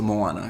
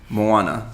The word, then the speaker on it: Moana: M Oh a na so it's a Moana because I thought there was an L in there okay I'm mallanna so I wasn't really watching